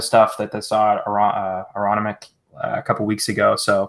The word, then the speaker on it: Aronimink: Well, Jesse, apparently that's how we pronounced that golf course that we couldn't figure out 2 weeks ago. Aronimink.